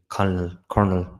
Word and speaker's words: colonel: um down the line that Champagne's character military colonel as they pronounce it.